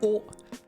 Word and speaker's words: を: That being said, the pronunciation is pretty much the exact same as just a standard o.